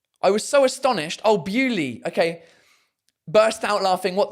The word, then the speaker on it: Beaulieu: Look, Beaulieu. I was so astonished. Oh, Bewley.